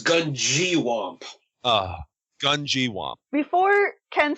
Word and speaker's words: Gungywamp: let me try it is it gungi wamp no it is Gung wamp oh gun gwamp before